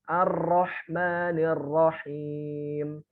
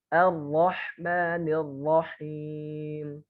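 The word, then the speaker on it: الرحمن الرحيم: Yang paling afdol, yang sanadnya benar-benar paling sahih dan kuat adalah yang getarannya 1. Terus gimana Ustaz getarannya 1? Perhatikan. Ar-Rahmanir-Rahim. Bismillahirrahmanirrahim. Dengar ya, agak kayak cadel gitu ya, huruf ro-nya enggak ini ya. Nah, itulah yang betul. Ya, bukan apalagi yang bacanya seperti ini, Ar-Rahmanirrahim. Ini salah. Getarannya terlalu banyak.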